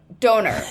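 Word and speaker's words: döner: Doner.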